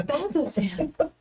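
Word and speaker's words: Bazzoxan: that word from earlier has both Z's and an X in it think they would have different pronunciations it's up that they have the same sound it's bazo xan bazo xan well and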